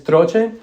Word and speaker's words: Troche: The way it's pronounced is troche.